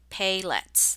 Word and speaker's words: paillettes: confused with sequence and the word is pay let's pay let's that's how you say it so let's take a